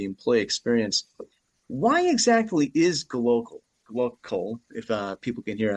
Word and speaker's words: glocal: Why exactly is gloal, if uh people can hear, I'm spelling it uh pronouncing it with a C instead of a B.